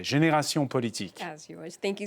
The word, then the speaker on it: Génération Politique: And thanks to Hind Zian, founder and CEO of consultants, I pronounce it the French way, Génération Politique.